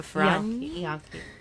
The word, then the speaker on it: Ferragni: It's a GNI that I have problems with. Like Yonki. Like gnocchi. So Ferragni.